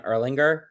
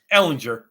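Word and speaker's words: Ehlinger: 20 degree they've benched Matt Ryan for Sam Erlanger hey is that how you say his name Ellinger but yeah yeah excellent hook of horns how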